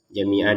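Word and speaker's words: جَمِيعًا: Ini an ini tulisannya an jamian. Kalau kita baca berhenti menjadi jamia panjang dua harakat. Kemudian kalau kita jambung dengan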